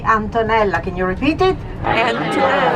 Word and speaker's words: Antonella: So good morning, my name is Antonella, A-N-T-O-N-E-L-L-A, Antonella. Can you repeat it? Antonella. Very easy to remember. Rhymes with the mozzarella.